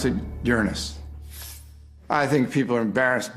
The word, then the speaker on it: Uranus: pronounced the planets name Uranus which is very likely closer to the original pronunciation of the name of the God after Luna was named